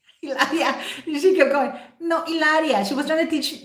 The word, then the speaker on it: Hilaria: them how to say her spanish name ilaria it's like with an age but no you don't say hello it's like manchester united